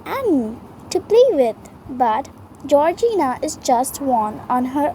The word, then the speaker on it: Georgina: name something funny yes a corgina sorry mispronounced georgina how old would she